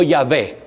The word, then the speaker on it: Yahvé: que dijo, pueden indagarlo, que los samaritanos pronunciaban el nombre de Dios como Yahvé, y que los judíos solo decían Yah.